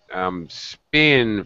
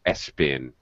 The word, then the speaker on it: spin: And also, Julio, be careful of... spin, for some reason you're adding a vowel sound, like S-spin. Yes, that's true.